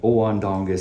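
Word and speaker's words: Ōan Donge: So, Oan Donge, that's how it's pronounced in the Japanese.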